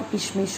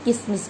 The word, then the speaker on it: किशमिश: किशन, कई लोग श को स बोलते हैं, किशन को किसन बोल देते हैं और किशमिश को किसमिस बोल देते हैं।